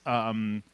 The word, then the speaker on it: Konoplyanka: Liverpool, whose name is Konoplyanka. Yeah, he better, if he comes to England, he better get used to the raunchy songs because his name, of course, rhymes with wanker.